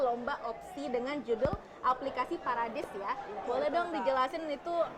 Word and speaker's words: PARADIS: bernamaad paradis paradis ini kalau misal kita lihat secara aksen bahasa Inggrisnya Paradise gitu Yai ini emang pengucapannya paradis ya parad Apa itu singkatan